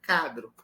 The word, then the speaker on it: quadro: Então, se eu nasci num ambiente que todo mundo diz quadro, se desde criança eu digo quadro, eu vou estranhar uma pronúncia cadro. Concorda? Então, eu naturalizo a minha labialização, naturalizo.